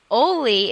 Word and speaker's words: Olli: Holi Oh Olli okay Olli is pronounced to rhyme with holy and is considered a